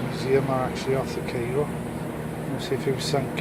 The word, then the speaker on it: Cairo: Spelled Cairo but pronounced Cairo.